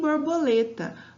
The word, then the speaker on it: borboleta: E aí, por fim, borboleta. Borboleta. É o lê, né?